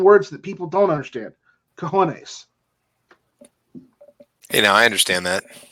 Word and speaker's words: cojones: Cojones. Hey, now I understand that. It's pronounced cajones, not cajones or whatever you said.